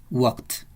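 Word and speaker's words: walked: Word se pronuncia Whats no suena la l Y como aquí hay una acá suena como una t watts regresamos a la pestaña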